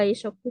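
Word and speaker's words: 外食: Kalau lagi di luar terus kita makan ke suatu tempat itu namanya gai shoku suru. Ini kanjinya gai itu dari soto ya. Soto kan artinya luar. Terus ditambahin kanji taberu. Dibacanya tapi shoku ya.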